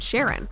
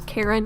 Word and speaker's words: Charon: half its size named Sharon some people pronounce it as Karen and both ways are technically correct the moon is so